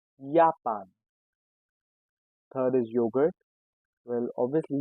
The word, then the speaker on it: Japan: Next is Japan and we call it Japan.